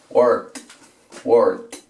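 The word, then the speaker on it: wart: Vamos con esta otra, word, una especie de O, como si esta sonara O, para verruga. Verruga se dice así, word, termina en T.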